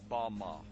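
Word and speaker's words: בָּמָה: The Hebrew word used in this text for the heights from which Satan fell is Strong's Hebrew word 1116, pronounced Bama.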